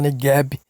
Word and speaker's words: Negev: Ela cresceu como um oásis na margem norte do deserto de Negev. Alguns falam Negev, é a pronúncia. Pode falar Negev, que não está errado.